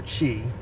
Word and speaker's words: Qi: and both of these are Chi which is spelled qy both of these are